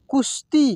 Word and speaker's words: कुश्ती: तो गांव में, देखिए ये श और त संयुक्त है ना, तो श का उच्चारण तेजी से करेंगे। कुश्ती, क्या बोलेंगे इसको, कुश्ती का आयोजन, आयोजन, ठीक है, आयोजन हुआ था।